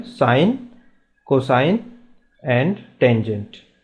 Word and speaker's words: sin: फॉर साइन इट is pronounce साइन ही करेंगे लेकिन इट इज़ SIN।